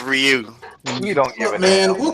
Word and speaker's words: Ryu: me oh and by the way Chef it's pronounced Ryu don't man we'll call him whatever the hell